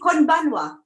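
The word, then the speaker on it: こんばんは: So is it konbanwa? Yeah, that's right. Konbanwa.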